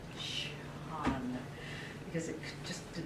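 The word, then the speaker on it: Sian: It's like the word S-I-A-N. Sean. Shan. I've had to spell it S-I-A-A-A-A-N so I could learn how to say it. Shan.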